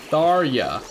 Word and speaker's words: Tharja: Tharya. Yeah, see? I didn't even know J could be pronounced like a Y, but I mean, in ye...